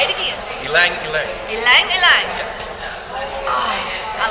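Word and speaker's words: ylang-ylang: You pronounce it. It's ilang ilang.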